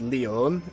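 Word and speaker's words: León: Yeah, looking at where the accent is, I kept pronouncing it as Leon, but I think it's Leon, isn't it? Like Sierra Leone, that type of Leon.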